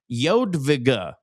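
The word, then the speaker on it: Jadwiga: Uh PS, it's pronounced Yodvigga.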